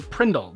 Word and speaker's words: Prindle: That's what That's what's known in the automotive world as the Prindle, the pronunciation that engineers bestowed on the transmission gear selector because it commonly contained the letters PRNDL.